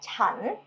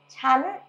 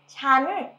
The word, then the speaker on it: ฉัน: It's written as if it's pronounced chan, but nobody says chan. So people always say chan with the high tone, chan, chan, chan.